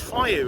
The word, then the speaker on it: Feiyu: What's the name of It's Feiyu. It's a Chinese company and it's spelled Feiyu.